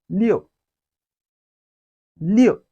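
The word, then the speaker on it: 六: tone now we've learned len in chinese is pronounced as leo liu you can use the english name leo to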